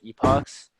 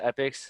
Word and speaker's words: epochs: uh well everybody put like everybody at tams pronounces it epochs but i searched it up and this pronounced epics so i'm just gonna pronounce it that way